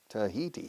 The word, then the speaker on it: Tahiti: Tahiti. 3 syllables. In Spanish, Tahiti.